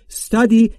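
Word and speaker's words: study: استادی بیصداست ما هم صدایی نباید اضافه بکنیم استدی یعنی مطالعه کردندی یعنی تو مطالعه میکنید یعنی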